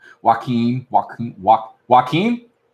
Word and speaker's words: Joaquin: Joe Queen what's the fella pronounce the name Joe Keene Phoenix no that's not it why can't I think of how to pronounce his name whatever my roommate actually shall I said Joaquin walk walk Joaquin like duck why a key